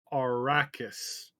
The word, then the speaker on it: Arrakis: thing i feel i feel so bad it's pronounced arrakis that is the planet dune in case you